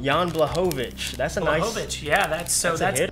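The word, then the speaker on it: Jan Błachowicz: as well so uh yawn how do you pronounce his last name jan blehovich that's a nice yeah that's so that's it out of 49.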